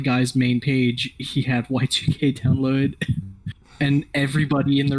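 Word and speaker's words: YIIK: don't worry um i everyone else calls it yik because it's the two is roman numerals yeah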